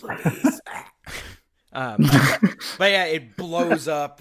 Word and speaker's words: Luis: God, that's like in Resident Evil 4 whenever Luis got called Louis by Leon. It's like the last thing the man heard was his name being pronounced wrong. It's fucking hilarious. Louis! It's Luis.